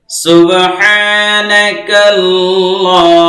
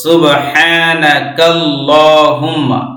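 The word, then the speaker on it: سبحانك اللهم: মানে বের হয়ে যাবে অনেক মেসাব অনেক হুজুর দেখছি এরকম সুবহানাকা আল্লাহুম্মা পড়েন কত বড় মানে ভুল এটা প্রিয় দর্শক এটা মিলায়ে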